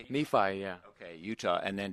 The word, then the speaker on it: Nephi: You've discovered wanting to escape from Nephi. Is that how you say it? Nephi, yeah.